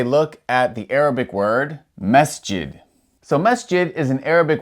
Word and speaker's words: masjid: The S has no vowel sound coming after it. After pronouncing the S, you go straight to the J. Masjid.